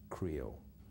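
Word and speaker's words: Krio: of at the beginning which is spelled k-r-i-o creole so my research is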